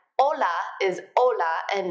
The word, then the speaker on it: hola: pronunciation reminder remember that you don't pronounce the H's when they come at the beginning of a word like Ola is hola and not